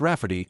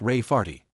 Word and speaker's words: Rafferty: name my niece Rafferty, pronounced Rafferty and not at all like Ray Farty.